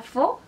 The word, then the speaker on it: faux: Entonces, AU significa O. Ejemplos de este diptongo de vocales en palabras: la palabra faux, que significa falso.